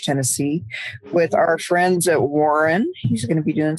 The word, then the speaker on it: Warren: completely off topic, but did you know that Warren is a single syllable word? Because you say it very Southern. You go Warren. Warren? You make a single syllable word 2 syllables, and I love it.